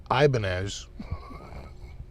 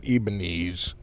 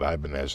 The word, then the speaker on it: Ibanez: no no no no it's ibanez not ibanez not ebeneze i don't know sonny barnes which is really what it was supposed to be they're trying to sound spanish but we just called it ibanez and they were like